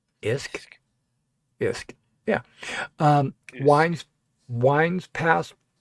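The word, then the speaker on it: Usk: To the south and east, the river Uk pronounced IHS K isk.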